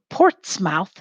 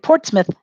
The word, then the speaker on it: Portsmouth: 1638 say it started portsmouth in 1638 started and this is spelled differently than it sounds port i mean sorry port's mouth is the way that it's spelled port's mouth in 1638